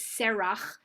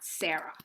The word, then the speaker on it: Serach: One other thing about her name is Serach, not Sarah. It looks very similar to Sarah. It's the Hebrew is even similar. I'll put in the Serach.